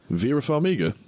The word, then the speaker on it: Vera Farmiga: Vera Farmiga.